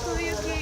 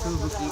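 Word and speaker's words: 吹雪: Fuyuki. Fubuki.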